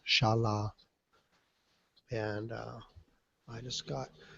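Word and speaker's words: Xala: in an area called Shala it's spelled x a l a but it's pronounced Shala and uh I just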